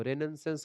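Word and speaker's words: Renaissance: क्या बोलते हैं उसको रेन सेंस होता है जो पुनर्जागरण होता है उसकी अंग्रेजी लेकिन उसको पढ़ते क्या है उसको पढ़ते हैं रेनेसा ठीक है क्योंकि वहां पर चीज साइलेंट होती है ऐसे ही यहां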